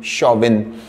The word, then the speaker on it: Chauvin: Nicholas c h a u v i n shawvin Nicholas shabin was a French General in the